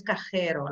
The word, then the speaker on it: cajero: Muy bien, ojo con la pronunciación, que es cajero, la J, ¿ok?